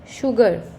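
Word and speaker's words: sugar: Words आप समझेंगे जैसे शुगर, एस एच नहीं लग रहा है यहाँ पे, एस यू लगा है, बट उसका जो उच्चारण आ रहा है श का आ रहा है, तो दैट बिकम्स शुगर.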